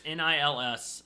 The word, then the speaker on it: Nils: The original one is done by Nils Ham. Or Niles? I think it's Nils. Nils. It's Nils.